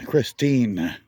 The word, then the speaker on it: Christeen: as our Christeen, and it's spelled different than the movie car. The last 4 letters are T-E-E-N, Christine. You know, like a teenager, but not meaning anything to do with a teenager, of course, but Christine.